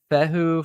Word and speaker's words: Fehu: Pronounced Fehu, Fehu, Fehu, Fehu, Fu, Fa, Fi, Fi, Fo, Op, F, If, Op, Oof.